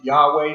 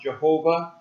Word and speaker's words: Yahweh: We pronounce it Yahweh. Sometimes it's pronounced Jehovah.